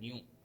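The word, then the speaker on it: knew: को अंडरलाइन कर देना कि एल यहाँ पर साइलेंट है। सेकंड में देखिए कहते हैं दी ओल्ड वुमेन न्यू।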